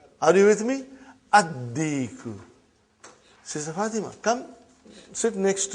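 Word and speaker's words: الديك: Addiku, not Aldiku. Are you with me? Addiku.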